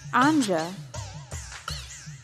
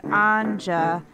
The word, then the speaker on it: Anja: group for people named Anja, and the number one topic they all seemed to bond over was the fact they hated it when people pronounced the J.